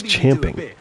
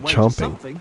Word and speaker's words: champing: It's ching. But still, if you want to fight, it's not chomping.